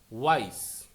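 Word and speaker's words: wyes: সেই জন্য pronounce like the letter Y.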